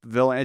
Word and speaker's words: Vylan: If his surname is generally, it's just a play on Bob Dylan. The group is Bob Villain.